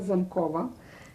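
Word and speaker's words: Zamkowa: It was called Ulica Zamkova. Can you spell that?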